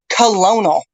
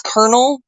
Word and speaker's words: colonel: second time it happened she pronounced the word Colonel like Salute Your Colonel Colonial right she pronounced it the way it spelled and I went oh I raised my hand having been three years in in junior Air Force Roxy I said no that's that's Colonel pronounced like a popcorn kernel but it's it's Colonel and she's like arguing